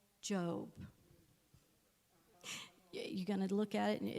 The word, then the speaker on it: Job: the Bible, it's called Job. You're going to look at it, and it's not with an E, by the way, it's spelled job, but I want you to read it.